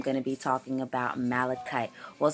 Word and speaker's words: malachite: Well, some people say it's pronounced malachite. I mean, that would make sense, but I've also heard people say malachite, so I've been saying malachite. So correct me if I'm pronouncing it wrong.